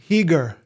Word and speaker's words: Chiger: Doron is the grandson of Ignacy Heger. Heger is how you pronounce it.